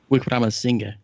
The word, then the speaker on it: Wickramasinghe: Wickramasinghe. Okay, I can't say that. There's no way. I'm gonna have to rely on you for that. Song, it'll be Wickramasinghe, make it easier.